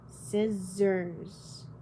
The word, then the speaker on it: scissors: The 2 S's sound like the letter Z. Z. Scissors.